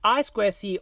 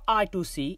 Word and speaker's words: I2C: Inter-integrated circuit, pronounced I2C or I2C, is a short-distance, two-wired bus technology.